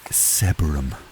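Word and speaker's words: Sebergham: It's probably pronounced Sebum or something. Sebum. Okay, I found out later that it's actually pronounced Seberum.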